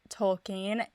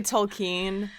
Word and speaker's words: Tolkien: And my experience with Tolkien. It's okay. I know I say it wrong. It's technically Tolkien, but I say it wrong.